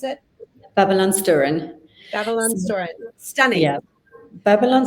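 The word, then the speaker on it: Babylonstoren: And I just wanted to show a couple more from, tell me how you pronounce it. Babylon Sturen.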